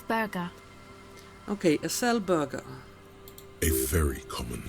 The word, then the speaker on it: Acele: Okay, apparently it's pronounced Acele.